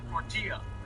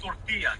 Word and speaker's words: tortilla: Totally forgot about those two L's. Tortilla, you really want to get Mexican with you. Tortilla.